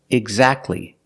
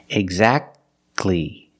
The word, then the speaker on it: exactly: it's between consonants examples exactly Christmas we see the t is between consonants so we don't pronounce it you don't say exactly